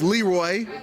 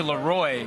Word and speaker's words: Leeroy: Now it is Leeroy, spelled with two E's. Spelled with two E's. So people often mispronounce your name then. They mispronounce it or misspell it. I have a friend, my buddy Cheese. He's pretty popular. I know Cheese. Yeah. Okay, so he's mispronouncing your name. Yeah, he always calls me Leroy, and it makes everybody smile.